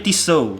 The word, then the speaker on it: Tissot: ini quarternya tisunya langsung tulisannya Tissot bacanya tisel nah ini dia barangnya